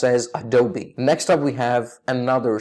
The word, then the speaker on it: Adobe: or a dope its Adobe as in ah do be double e unfortunately a lot of people do not pronounce the e at the end the correct pronunciation for